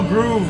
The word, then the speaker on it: Grove: You guys know that is an acceptable way of saying my name. It's acceptable. Everyone in Europe calls me that. Everyone from Europe calls me Groove with two O's. And everyone from South America as well, two O's.